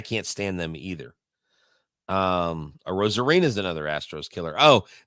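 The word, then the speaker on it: Arozarena: bat this lady she she was trying to pronounce his name she was like AR air Ana what and she like she said it four or five different ways and I was so entertained I should have just let her continue to mispronounce it and I turned around I said it's actually Randy a rosarina and she's like wow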